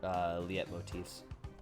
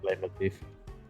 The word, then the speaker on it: leitmotif: Like, I'm an absolute sucker for Liet motifs. And one of the levels in... That's pronounced leitmotif. Is it leitmotif or Liet motif? I never knew.